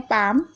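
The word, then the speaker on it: palm: जैसे कि देख रहे हैं पाम, यहाँ पर देखिए एल पहले आ रहा है उसके बाद एम आ रहा है, तो यहाँ पर साइलेंट है एल।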